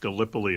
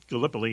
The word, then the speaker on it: Gallipoli: And what it was is it's actually, I think, pronounced Gallipoli.